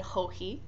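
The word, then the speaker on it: Joji: And you do pronounce it Hohi.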